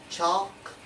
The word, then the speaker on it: chalk: with the vector l the letter l on s1 rule that is usually not pronounced after the foul of the letter a o and u for examples like